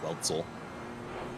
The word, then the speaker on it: Wetzel: in game, and it's Wetzel. I didn't realize it was Wetzel. My apologies. Pretty sure it's still pronounced as if there's almost a T there. It's Weltzel.